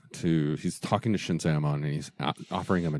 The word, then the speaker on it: Shinzaemon: they're each separate syllables. Like Shinzaemon, it's not Shinzaemon, it's Shinzaemon.